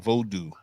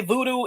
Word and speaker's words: Vodou: So I know of 3 pronunciations. There are probably more than this, just so we're clear. But 3 proper pronunciations. And I will say voodoo is none of the proper pronunciations, okay? Unless you're talking about New Orleans voodoo, which is now extinct.